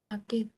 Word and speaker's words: Aquel: হ্যাঁ কিউ এর পরে স্প্যানিশে কখনো অ্যাকচুয়ালি ইউটা উচ্চারণ হয় না। তবে আরেকটা জিনিস মনে রাখতে পারেন, এটা মনে রাখার জন্য, সেটা হচ্ছে যে উপরে দুইটা ডট থাকে বেশিত, এই দুইটা না থাকলে কখনোই ইউটা উ হবে না, অলওয়েজ ওই যে একসাথে